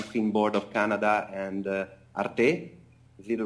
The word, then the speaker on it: Arte: by the National Finan Board of Canada and Arte is the right pronunciation.